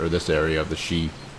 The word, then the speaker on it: Sidhe: this area of the sheet well that's how you pronounce it I would not have guessed that looking at those letters he construed the goods